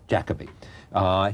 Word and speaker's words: Jacobi: There's a thing in which I say Jacobi, and Jacobi is what's the correct pronunciation? Jacobi.